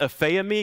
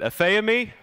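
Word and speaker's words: ἀφίημι: the Greek word that we have here it's pronounced Affair me can y'all say that me we're not getting out of this until you do it a fee of me there we go yeah that's kind of fun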